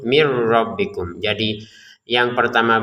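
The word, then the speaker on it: مِنْ رَبِّكُمْ: Tapi karena di depannya ada ro, maka kita masukin nun sukun ini kepada ro sehingga terbacanya langsung mir rabbikum.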